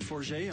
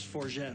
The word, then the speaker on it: Forget: what he got to my name is 4j I'm from Toronto Canada repeats pronounce for jet also but I prefer the more pretentious version okay when I was